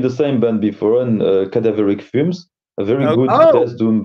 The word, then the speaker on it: Cadaveric Fumes: Cadaveric Fumes, yes.